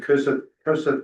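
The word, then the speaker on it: Kossuth: the district director in Cossack County, that's how you pronounce it.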